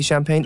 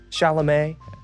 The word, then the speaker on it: Chalamet: Chalamet? Champagne? Timothy Champagne? It is not. Oh, How do you say his name? Anybody know? Chalamet? There we go.